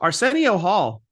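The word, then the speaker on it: Arsenio: Arcenio Hall. Okay, I have it. I will never mispronounce Arcenio again.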